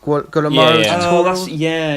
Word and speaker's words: Guillermo del Toro: supposed to be I don't know how you pronounce his name. Is it Guillermo del Toro?